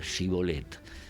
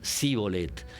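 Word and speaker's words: shibboleth: se apostan en entrada del río y eh les piden que pronuncien la palabra shibolet. Los efraimitas no podían pronunciarla sh. Entonces decían cbolet y ahí los degollaban porque reconocían que eran efraimitas escapando.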